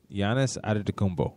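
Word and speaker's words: Giannis Antetokounmpo: I got to make sure I pronounce this right. Giannis Adetokounmpo. Giannis Adetokounmpo.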